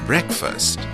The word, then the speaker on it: breakfast: is stomach and chem-20 combination e ear is read as a so I n SD e a D is instead and be our e a K F a s T is breakfast the letter combination e